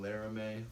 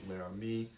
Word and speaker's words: Laramie: I realized I was saying Laramie for the trim level on the Ram, but it's actually pronounced Laramie. Someone said that to me in the comments before, and I was like, oh yeah, I forgot about that. But anyways, so yes, it is Laramie, not Laramie.